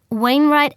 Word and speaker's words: Wainwright: p a y n e your address 6 wainwright avenue that's w a i n r i